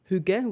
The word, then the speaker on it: hygge: were going for was hygge, which is Danish word for like cozy, comfortable. And then a few people started pronouncing it more like Huggies, the diaper brand.